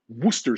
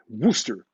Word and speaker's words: Worcester: It's a Worcester sauce. We call it Worcester. And there's a place in the US called Worcester, Massachusetts.